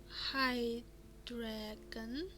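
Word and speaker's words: hydragon: transport hmm sounds threatening the hydrogen pronounced High dragon is a rare but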